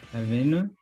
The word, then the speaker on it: avenue: So if you put in the tendency is to try and put that emphasis on the last syllable, but if you do, it sounds very French.